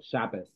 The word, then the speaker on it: Shabbos: So are you familiar with the tav and how it becomes a S sound, like bass or Shabbos?